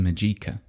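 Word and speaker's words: Mageika: Majika. And it's uh Well, actually, I should spell that.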